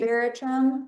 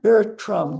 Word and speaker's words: Veratrum: Veratrum Veratrum It's a natural medicine. It's false hellebore, which is actually a very toxic plant, but that's why you got to respect it. Veratrum natural Here we are.